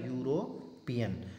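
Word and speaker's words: European: अब इसमें होता क्या है कि इसकी शुरुआत हो रही ई से, लेकिन जब हम इसका उच्चारण करते हैं जो ई जो है ये साइलेंट रहता है और इसका उच्चारण होता है यूरोपियन।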